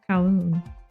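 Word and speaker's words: Kowloon: Cowoon. I think it's Cowoon. Cowoon. I I don't think the L the L is not pronounced.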